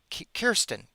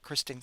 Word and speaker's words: Kirsten: f i g u e r o a We're just going to say Kirsten, not Kristen. Kirsten.